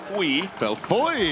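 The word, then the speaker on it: Bellefeuille: gain of 12 it's Marcel Bel beloy beloy he actually gave us the correct pronunciation I'm still working on it as you can tell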